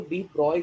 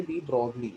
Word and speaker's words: de Broglie: डी ब्रॉगली लिखते हैं हम, मैं ब्रॉगली ब्रॉगली जानबूझकर बोल रहा हूँ बिकॉज मैं चाहता हूँ कि आप लोग उसको प्रॉपरली स्पेलिंग से लिखें, लेकिन जब प्रोनाउंस करेंगे तो डी ब्रॉय करके बोलना, don't say डी ब्रॉगली, okay, से डी ब्रॉय। ओके, सो डी ब्रॉय करके बोलना हमेशा।